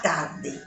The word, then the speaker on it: tard: Tard no se pronuncia la D.